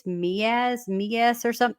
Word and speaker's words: Meiwes: Also, I think his last name is pronounced Miaz instead of Muse.